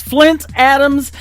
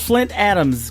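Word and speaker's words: Flynt Adams: His name is Flint Adams. It is spelled a little bit different. It is F L Y N T. And uh Hope came to Save the World, Flint Adams.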